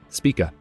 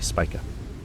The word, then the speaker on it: Spica: Yep, Spica. It's actually Spica.